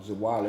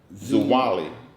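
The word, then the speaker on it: Zwolle: before i'm originally from a town called um zawali louisiana a lot of people don't know uh about that city because it's just such a small city expel that spell that now zuwali z-w-o-l-l-e that's correct spelling is wild of louisiana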